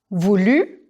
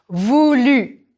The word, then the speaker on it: voulu: Vouloir, voulu. Pronounce that one again. Voulu. Ou eu. Vous-tu. Voulu.